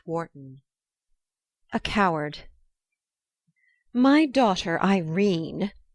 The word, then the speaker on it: Irene: a coward my daughter Irene said Mrs caryle she made it rhyme with turine has had no social